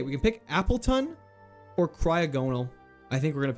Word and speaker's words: Cryogonal: It's pronounced Cryog and no, Cryogonal. Cryogonal.